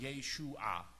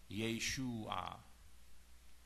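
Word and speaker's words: ܝܫܘܥ: It's pronounced Yeshua. Yeshua. Yeshua HaMashiach.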